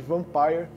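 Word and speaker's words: Vampyr: em los angeles e ouviu da boca do diretor a pronúncia correta de van pai e eu já aproveita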